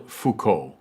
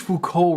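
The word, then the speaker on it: Foucault: And that leads me to the final of these four players, namely Michelle Fuko.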